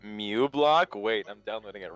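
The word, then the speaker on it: uBlock: It's actually pronounced that, so you pronounce it Mew block.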